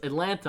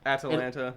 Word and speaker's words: Atalanta: It's Atlanta, I think, but it's like Atalanta. It's like it's spelled with an A at the end.